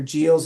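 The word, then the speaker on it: Giles: I've never gotten a satisfactory answer whether gals is a soft G or hard G, but I've always used a soft G to pronounce it.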